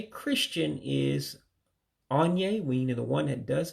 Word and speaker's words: onye: So again, you got that On-yae, meaning the one who does something.